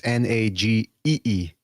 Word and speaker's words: Najee: By the way, I thought it was Najee Naji, but it's Nagee.